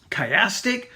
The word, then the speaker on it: chiastic: It is pronounced chiasm. Chiastic, C-H-I-A-S-T-I-C.